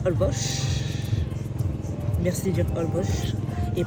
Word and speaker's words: Holbox: Alors, bienvenue à Holbox. Merci de dire Holbox et pas Holbox. Ah, je dis Holbox. Ça s'écrit Holbox.